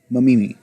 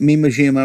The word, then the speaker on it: Mamimi: her name just no i mean mamimi not me majima or whatever the hell